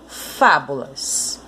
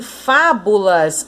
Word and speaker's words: Fábulas: Em Fábulas, a mesma coisa. A sílaba mais forte é o Fá, porque é ela que está com acento.